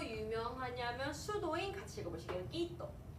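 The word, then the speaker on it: Quito: 끼또. 끼또. 끼또. 우이또 아닙니다. 끼또.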